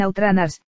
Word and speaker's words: Out Runners: de coches de Sega llamado Outrunners, si lo pronunciamos bien Outrunners, que me suena más a una rana que